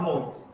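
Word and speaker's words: knot: The next one is not note. Here K is silent, so it will be not, then not. Note. Okay. So not is K is silent, so it will pronounce as not.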